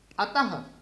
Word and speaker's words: अतः: तो क्या है, इसका उच्चारण ह के समान होता है। ह, जैसे अ के साथ लगा है तो अह। जैसे अतः, अतः, त के आगे दो बिंदु लगते हैं। अतः, ह का उच्चारण जैसे हम कर रहे हैं।